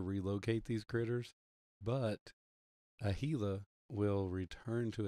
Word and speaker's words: Gila: It's spelled Gila, but it's Gila. H-E-E-L-A.